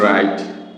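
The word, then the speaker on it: wrong: আবার যদি আমরা লিখি রং, ডাব্লিউ আর ও এন জি, রং, রং, তাহলে এখানে কিন্তু ডাব্লিউ এর উচ্চারণ হয়নি, আর ও এন জি, রং হয়ে যায়।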